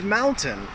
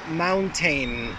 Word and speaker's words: mountain: And the word is mountain. I hear this one, my students always pronounce it mountain, mountain. So that last, that suffix there, that tain, needs to be more of a tin.